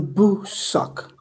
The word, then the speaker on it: Bosak: um just to everybody you pronounce my name boo suck thank you sir we